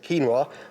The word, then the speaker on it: quinoa: So I suppose the proper pronunciation is quinoa, but for me, I stick with quinoa. It's the more anglicised version.